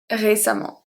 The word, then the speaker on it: récemment: Constamment, patiemment, récemment. So the A and the E are pronounced exactly the same. They're pronounced A.